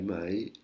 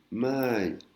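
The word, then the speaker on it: ใหม่: Là, on a vu mai, la négation, mai, l'interrogation, et on a aussi mai, qui veut dire nouveau, neuf. Ça se lit, ça se prononce exactement pareil que mai, qui veut dire, qui est la particule d'interrogation, mais ça s'écrit légèrement différemment.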